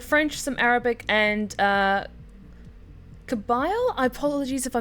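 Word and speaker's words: Kabyle: Kabil is the pronunciation.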